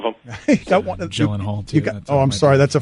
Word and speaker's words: Gyllenhaal: Should that did I pronounce it incorrectly? We have a fine system here, I should David, be fined yeah. for that. Yeah. No, you're all right, Gyllenhaal. You're good.